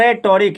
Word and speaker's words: rhetoric: क्या लिखा हुआ है, RHETORIC, मतलब रेटोरिक या हेटोरिक जो कहे, आर साइलेंट भी हो जाता है।